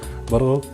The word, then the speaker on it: bulgur: So this is bulgur, in Turkish pronounced as bulgur, but in Arabic we pronounce it as برغل.